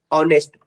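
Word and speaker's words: honest: ठीक है, कभी कभी क्या होता है कि कुछ ऐसे वर्ड होंगे जहां पर एच म्यूट होता है, उसका प्रोनाउंसिएशन किस तरह होता है, वॉवेल की तरह होता है। Like an hour, N hair, an ऑनेस्ट मैन, और एन ऑनरी पोस्ट।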